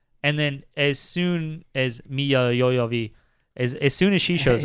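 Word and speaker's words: Milla Jovovich: this is yeah and then as soon as miya yoyovi as soon as she shows up yeah that's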